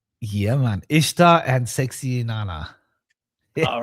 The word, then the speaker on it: Ishtar: known in our culture because Ishtar is pronounced Easter.